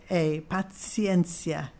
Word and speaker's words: patientia: So it's in, I-N, and then P-A-T-I-E-N-T-I-A, paciencia. In Latin you pronounce each syllable, okay?